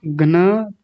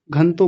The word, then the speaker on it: घ्न: घन तो घन तो नहीं, जिनको पता नहीं होता वो बोलते हैं घन तो, घन तो गलत उच्चारण है। घ्न तो घ जो है आधा है तो जल्दी बोला जाएगा घ्न।